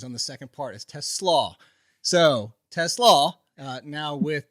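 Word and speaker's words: TeSlaa: Uh it's actually the harder pronunciations on the second part is Teslaw.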